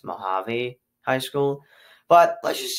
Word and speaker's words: Mojave: I keep saying Mojave High School, but it's pronounced Mojave High School.